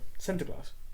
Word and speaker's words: Sinterklaas: You didn't know how to pronounce it properly, so Sinterklaas.